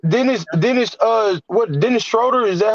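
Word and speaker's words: Schröder: do yup Dennis Dennis Dennis uh what Dennis Schroeder is that how you pronounce his last name yeah yeah you you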